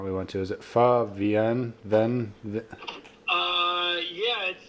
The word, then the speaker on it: Pho VN: went to is it Pho vien then uh it's short for Vietnamese okay so it's far and then Vietnamese but it's just abbreviated to VN and it is delicious